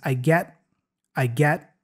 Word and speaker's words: get: So just to break down the pronunciation here, he says, I get. So the T there is a stop T. He doesn't say I get, but I get.